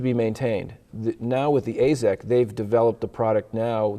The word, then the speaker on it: Azek: And one of the things I want to talk about first is Azek. Is that how you pronounce it? Azek. Azek.